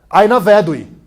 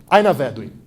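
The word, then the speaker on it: Ai na vedui: enrolando, e a pessoa aparece, você fala, pô, Aina Vedui, né? Por favor, repita. Aina Vedui. Aina Vedui. Isso, muito bem, a pronúncia está boa do élfico, que é finalmente, né?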